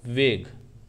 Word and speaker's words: vague: वेग जब पढ़ेंगे, वैग्यू तो नहीं पढ़ रहे ना, अगर वैग्यू पढ़ेंगे तो इसका मतलब UE साइलेंट नहीं है।